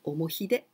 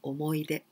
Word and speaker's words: 思い出: omo, but here, hi, but we don't pronounce omohide. This one was the very old style before the Second World War. And in those days, we used to use he and we pronounced I, omoide.